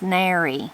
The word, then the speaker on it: narrow: So the word is narrow, but you'll most often hear it said as Nary.